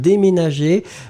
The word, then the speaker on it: déménager: So this is the reason why you will pronounce it dé and then me.